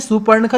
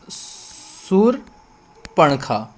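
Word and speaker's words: शूर्पणखा: लेकिन ये सुपर्णखा जो हमने लिखा है ये गलत है। हमारा उच्चारण जो शुद्ध होता है वो कैसा होता है, सूरपणखा, मतलब जो रा लगेगी वो पा पर आपका लगेगी, तो ये सूरपणखा यहाँ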